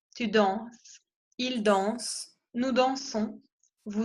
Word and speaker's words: dansons: Entonces, la ONS se pronuncia on, nous dansons.